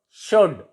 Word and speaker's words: should: L is silent before D. Would, could, should, could. And L is silent before F.